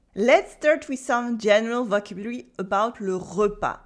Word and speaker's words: repas: start Wilson general le repas le repas is the mire with silent s le repas le petit-déjeuner